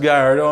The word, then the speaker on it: Gallardo: The last Lamborghini made with a manual transmission was the Gallardo, and yes, it is pronounced Gallardo.